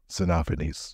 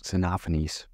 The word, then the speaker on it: Xenophanes: So it's spelled Xenophanes. Xenophanes. Xenophanes.